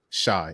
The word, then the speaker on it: Chey: Shy, excuse me. Uh, Shy or Shay, honestly, at this point I accept it all. It's interchangeable.